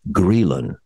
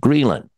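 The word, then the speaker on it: ghrelin: secrete more of a hormone called greylin and that's spelled g-h-r-e-l-i-n so this to secrete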